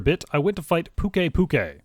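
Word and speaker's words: Pukei-Pukei: i went to fight pukei puke as that's how you actually pronounce it not pukey pukey it's still ugly by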